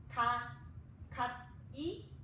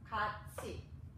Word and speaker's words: 같이: So instead of we pronounce 갓이, it sounds very unnatural for Korean speakers. We pronounce 같이. So these consonants move towards to the right hand sound, and assimilates to the word 같이.